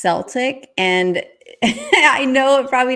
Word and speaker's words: Celtic: looked it up and it used to be pronounced Celtic to go with the language at that time which was like an S but in the English language they have reverted it to Celtic which was closer to